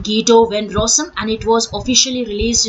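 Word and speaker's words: Guido van Rossum: was created by a Italian programmer that is GTO ven rosum all right that's how we pronounce his name GTO V rosum and it was officially released in the year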